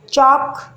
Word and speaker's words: chalk: Chalk, talk, walk. L silent.